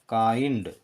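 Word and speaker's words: kind: यदि किसी स्पेलिंग में पहले कॉन्सोनेंट उसके बाद आई एन डी है तो वो पहले का कॉन्सोनेंट आधा रहेगा। जैसे कि ये स्पेलिंग है के प्लस आई प्लस एन प्लस डी। आगे के है आई एन डी, तो इसका उच्चारण होगा काइंड।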